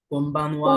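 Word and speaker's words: こんばんは: কোনবানওয়া। কোনবানওয়া। কোনবানওয়া। কোনবানওয়া। কোনবানওয়া। আচ্ছা, এটার উচ্চারণ অনেকটা এমন কোনবানওয়া।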